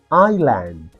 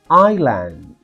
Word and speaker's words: island: Island. Island. S is silent, okay, not Iceland.